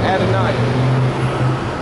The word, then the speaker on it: Adonai: Why don't you say Adonai? You're talking about the Lord, Adonai. That's the right way to say it.